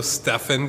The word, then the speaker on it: Stephen: this stuff and then let's see there's also stefan curry s-t-e-p-h-e-n yes it's pronounced differently but it's spelled the same would